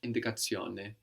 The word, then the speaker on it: indicazione: to make that Italian, we will change the shun to zione, which is spelled Z-I-O-N-E, zione. So indication becomes indicazione. Indicazione. And these words ending I-O-N-E are feminine words.